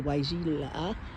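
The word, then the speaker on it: Weigela: Those all got planted last year with the Waijila. So that's how you pronounce it.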